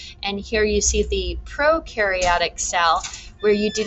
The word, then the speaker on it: prokaryotic: enkaryote nucleus no nucleus you can remember that pro rhymes with no for no nucleus and here you see the prokaryotic cell where you do